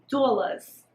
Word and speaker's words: Doulas: Now here is Doulas. Doulas, and you have to say it like that because that's how Jackie Aina would say it.